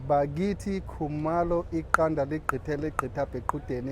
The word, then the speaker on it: Bakithi: pronounce the T, it's like, it's like a deep G, Bakithi.